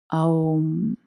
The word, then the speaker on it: Om: Om se prononce Aum. En sanskrit, la lettre O est une diphtongue formée de la fusion d'un A et d'un U, prononcé OU, avec une nasalisation représentée par le bindu, un point translittéré dans l'alphabet romain par un M souligné d'un point.